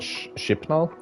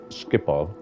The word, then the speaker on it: Schiphol: I always used to call it Schipnol, but then I realized there's no N at the end, so I think it's Schiphol.